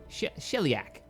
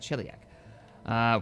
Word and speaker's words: Sheliak: Sheliak, that's how you say it, Sheliak.